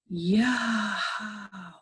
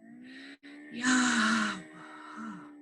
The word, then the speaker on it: Yahweh: Yud, He, Vav, He, the Vav was probably pronounced as the Yemenite Jews do, and Arabic-speaking Jews pronounce that Vav as W.